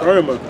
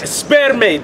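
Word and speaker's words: σπέρμα: Sperma. And sperma means. So how do you become an Israelite? What does sperma mean? You gotta tell me. Not sperma, sperme. That's how you say it in the Greek.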